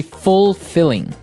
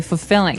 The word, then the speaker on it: fulfilling: You don't say fulfilling. No, you say fulfilling. Fulfilling. So the L there is kind of silent, kind of optional.